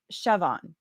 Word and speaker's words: Siobhan: all right um and oh it's pronounced Chevon Siobhan okay the the Irish name I see that in